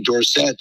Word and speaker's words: Dorsett: Well, you have the same situation with Tony Dorsett, was pronounced Dorset.